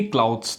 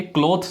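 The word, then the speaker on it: clothes: यानी लटकाना, हैंग दी क्लाउथ्स, ठीक है, इसकी प्रोनाउंसिएशन हमेशा याद रखिए, क्लॉथ्स नहीं होती है, क्लाउथ्स, ठीक है, जैसे CLAU यहाँ पर हो, दी क्लाउथ्स, हैंग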